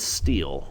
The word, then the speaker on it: stele: I guess you pronounce it as stele, but it's S-T-E-L-E.